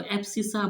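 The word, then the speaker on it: abscissa: इसको एब्सिसा बोलते हैं बेटा। क्या बोलते हैं? एब्सिसा बोलते हैं।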